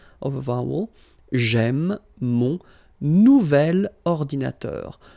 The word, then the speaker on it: nouvel: Nouvelle, phonetically you pronounce it like the feminine version, but then you write it N-O-U-V-E-L. Okay, we'll see. This is the feminine version, so it goes like double L-E. Okay, phonetically it is the same, but you write it differently.